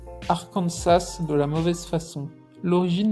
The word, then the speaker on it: Arkansas: Cependant, la prononciation française du mot, avec l'accent sur la dernière syllabe, a été conservée.